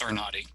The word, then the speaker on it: Arnade: thank you um first first i'll introduce myself with my pronunciation my name everybody gets it wrong my last name is arnotti i'm arnotti i would give you